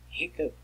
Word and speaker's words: hiccup: Hiccup, it's an old spelling, right? Nowadays you can write that with PP. Rhymes with cup.